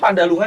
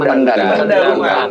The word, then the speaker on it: Pendhalungan: ee baik pendalungan at pandalungan sih P pendalungan Kalau pengucapannya pendalungan tapi tulisannya kan kalau versi Jawa pandalungan ada yang pendalan ya